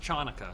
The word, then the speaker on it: Chanukah: And it's pronounced Chanukah.